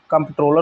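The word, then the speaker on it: Comptroller: बहुत important question है कंट्रोलर and auditor general इसका फुल फॉर्म देखिए कंट्रोलर नहीं होता है कंट्रोलर होता है सी ओ एम प टी आर O double L ई आर ठीक है कंट्रोलर एंड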